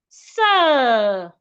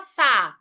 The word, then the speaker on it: sir: Sir. We have letter R after letter I, a longer sound. Sir. It's not sa or se.